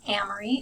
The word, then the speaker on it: Amory: so first things first my name is Amory if it helps to remember it rhymes with Kamri like the Camry Toyota and my last name